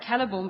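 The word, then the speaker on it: Celeborn: of strange to me all the c's are supposed to be pronounced it was weird i never thought that well i i i was fine with like keller born but i'd always thought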